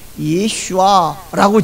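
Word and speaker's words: ישוע: 발음이 훨씬 정확하고 가깝습니다 히브리어로 예슈아 헬라 말로 예수 우리 한국말로도 예수이 예수는 육신을 입고 태어나셨을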